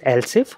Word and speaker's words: elif: So this is pronounced as else if, but we write as elif.